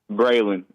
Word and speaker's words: Braylen: Braylen. Oh, Braylen.